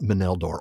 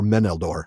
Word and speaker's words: Meneldor: So Sara, what about Melddor or Meneldor actually now that I'm remembering my pronunciation rules?